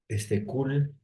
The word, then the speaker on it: Cole: Tuvo que ver mucho con el trabajo de Kuhl, ¿no? Kuhl, se escribe Cole, ¿no?